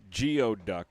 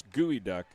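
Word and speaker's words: geoduck: It looks like geod duck, but it's gooey duck.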